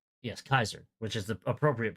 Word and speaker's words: Caesar: They pronounced it with that hard C or K.